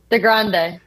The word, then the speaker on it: DeGrande: How do you pronounce it? DeGrande.